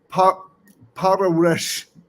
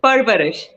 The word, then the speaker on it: Parvarish: So how do I pronounce it? It's Parvarish. Parvarish. You see, it's the Parvarish.